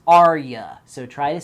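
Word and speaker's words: Arya: say REO without saying aria her name is spelled ary a not like a type of song it's aria so try to say it without saying Aria and goodnight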